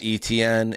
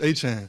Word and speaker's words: Etienne: Travis So growing up it was Travis Etienne. So it would be like A C H A N E.